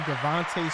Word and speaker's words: DeVonta: Ellis Devonta Smith so if it was Monta Ellis wouldn't it be Devonta Smith I don't even know how to read that and pronounce it right I'll be honest it's Devonte Smith I like it Devonta